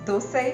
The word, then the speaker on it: dosai: restaurant style onion rava dosai you heard me right you pronounce it as though say not dosa we don't call puri pura right anyway dosa predominantly appears in